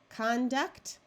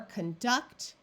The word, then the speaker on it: conduct: we have success aspect conduct or conduct if you want the verb form convict go ahead and